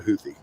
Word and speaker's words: Houthi: But it's always been Hoody. Hoy is is completely new to my reality. And I'm gonna say my reality. You could come in here and say you've been hearing it as Houthy for your whole life. But uh I've never heard Huthie.